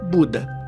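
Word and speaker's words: बुद्ध: conhecido como o Iluminado, que em sânscrito se pronuncia Buda.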